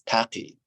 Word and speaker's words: Taqi: others to call me Taki and uh they're calling me Taki and Persian actually it is tati but people have trouble